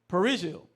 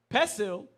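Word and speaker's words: perejil: Haitians whose Creole uses a wide, flat R find it difficult to pronounce the trilled R in the Spanish word for parsley, perigil. If the word came out as the Haitian pesil or bastardized Spanish puhi, the victim was condemned to die.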